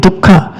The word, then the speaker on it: dukkha: If you eat so much pig leg, dukkha, you will suffer also.